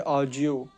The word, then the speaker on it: ogive: ओजीव curve भी same graphic representation है, और इसमें हम ओजीव को प्रोनाउंस करते हैं ऑजियो, ऑजियो।